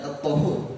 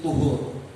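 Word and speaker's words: طُهُور: Bukan at-tahur, tapi tuhur. Kalau tahur memakai fathah, itu adalah alat untuk bersuci, air.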